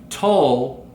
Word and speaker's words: Jethro Tull: they had mentioned that, remember, Tull rhymes with dull.